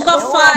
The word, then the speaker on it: sofá: No sofá é o sofá. No sofá é o sofá é o fá.